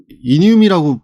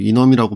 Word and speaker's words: enum: 예 얘기를 좀 하겠습니다 우선 놈이라고 이제 저희가 이늄이라고 발음을 하기도 하고 뭐 놈이라고 발음하기도 합니다만 사실 자바에서 나오는 애는